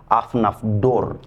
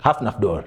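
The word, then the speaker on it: Hafnarfjörður: should be Afnafdor. Hafnafdor. Hafnafdor. That's the pronunciation.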